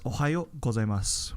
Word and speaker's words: おはようございます: We pronounce it as ohayo gozaimasu, where the o is just a bit stretched.